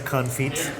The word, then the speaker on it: confit: makes the confit? Duck Firstly, I know on you don't feet.